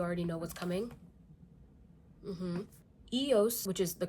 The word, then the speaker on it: EOS: some of you already know what's coming mhm EOS which is the correct way to say it